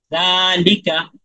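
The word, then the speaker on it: ذَٰلِكَ: জিনিসটা তার মানে দেখেন জাল সারা জবর জাল এখানে আমি লম্বা করে উচ্চারণ করলাম তারপরে লামের লি এখানে আবার লামের লি বললে ভুল হবে এখানে তো লম্বা হবে না আবার কাফ জবর কা জালিকা বুঝতে পেরেছেন তারপরেরটা বলেন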